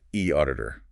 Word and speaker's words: eAuditor: And e auditor, pronounced e auditor, usually accounts for that.